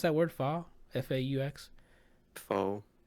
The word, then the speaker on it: faux: fake one shot like the how do you pronounce that word fall f-a-u-x full like a faux one shot where they